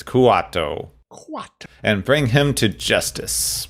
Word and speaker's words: Kuato: I keep pronouncing it Kato. It's Kuato.